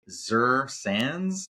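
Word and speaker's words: Xe Sands: The audiobook was narrated by Zur Sands. I'm fairly certain that's how you say it. It's X-E Sands.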